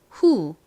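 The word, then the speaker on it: who: W h 다음에입니다는 여기서 우 소리로 쓰였어요 자 발음해 볼게요 후 후 좋습니다 자 같이 써 볼게요 wh 히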